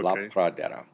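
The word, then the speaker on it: La Pradera: Spell that again. L A P R A D E R A. Okay. La Praa.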